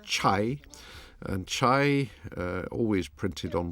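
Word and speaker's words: 拆: The sign is a Chinese character which is pronounced chai, and chai, always printed on walls like this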